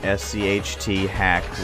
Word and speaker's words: SCHTHACK: I have been, but I would normally say SCHTHACK. And, I guess that's not the best pronunciation, but, I looked it up on the forums and it said SCHTHACK was the proper way.